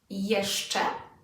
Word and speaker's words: jeszcze: We'll have jeszcze. So again, let's split it into 2 and say it from the back.